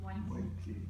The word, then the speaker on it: moiety: How do you pronounce it? Moiety, yes.